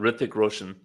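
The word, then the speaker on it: Hrithik Roshan: say his name hi hick Roshan Ric the H is silent Ric Roan yeah yeah and Anette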